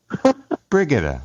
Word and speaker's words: Brigetta: it again forget it I know brigetta alright the accents on the first Brig I gotta bring it